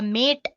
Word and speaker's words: MATE: boots you into the mate desktop environment let me pronounce it m a you can call it whatever you want mate or mate desktop environment so as you can